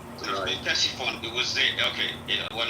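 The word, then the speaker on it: Ctesiphon: Tessifon.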